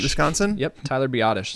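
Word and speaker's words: Biadasz: I'm gonna at the the risk of completely mispronouncing his name Tyler by Dez Johnson yep Tyler B oddish it's a perfect fit oddish there we go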